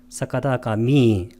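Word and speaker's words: sakadāgāmī: 사카다가 미를 길게 발음해야 됩니다. 사카다가 미.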